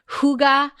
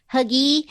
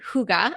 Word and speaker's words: hygge: Have any of you guys heard of that hygge, which is spelled Hygge? So for the longest time, I thought it was like huggy, which I think is kind of better than hygge.